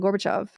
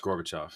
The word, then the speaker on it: Gorbachev: Gorbachev uh it was I'm saying his name wrong gorbachov yeah it's always pronounced gorbachov gorbachov which always makes